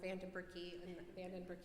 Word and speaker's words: Vandenbrooke: I think everybody gasped when Anne called her Vandenbrooke for the pinning, but that is actually how you say her last name.